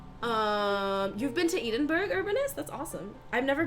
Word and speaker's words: Edinburgh: so kismet eat it is it not called edenberg what is it called you guys pronounce eden berg edinburgh edinburgh edinburgh edinburgh edinburgh about all the other